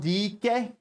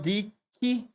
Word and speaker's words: Dike: is another word for lesbian his name is pronounced Dicky d e he he Daryl DK Daryl D key Daryl first of all Dyke is uh Dyke